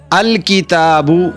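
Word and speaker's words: الكتاب: अल किताबु में लाम पढ़ा जा रहा है। लाम की आवाज है।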